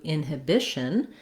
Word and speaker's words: inhibition: different syllable stress pattern so in inhibition it's the bi bish syllable that gets the stress which means even though i still have um the same spelling and um the same letters this one i definitely think of as more of a schwa this hib instead of the long stressed it turns into more of a ha inhibition or it can also be an inhibition um i think just